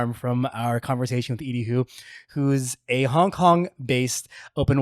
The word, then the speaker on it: Edie Hu: I am joined today by Edie Hu. Did I pronounce that correctly?